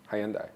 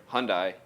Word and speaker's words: Hyundai: great people great cars Wilson County Wilson County Hyandai get out there Hyundai it's not you pass the test you passed